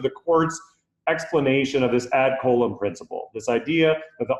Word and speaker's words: ad coelum: that is from the ad column doctrine now it's a latin phrase sometimes people say add salem there's lots of different ways to pronounce it but in all